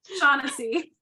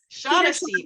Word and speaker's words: Shaughnessy: Shaughnessy. Shaughnessy.